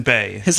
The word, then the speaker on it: Bayh: needed there, and Evan Bay. His last name's spelled dumb. Tim Johnson was Bay is has an H in it. South Dakota, and Evan Bay, Bayh, from Indiana. Yeah, obviously rhymes with gay.